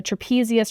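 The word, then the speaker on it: trapezium: the thumb side okay so trapezius rhms with thumb then we have the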